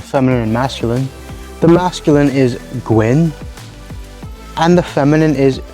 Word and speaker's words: gwyn: masculine the masculine is gwyn and the feminine is gwen notice the feminine one is a bit lighter in the vowel sound and the masculine is a bit darker gwyn and gwen this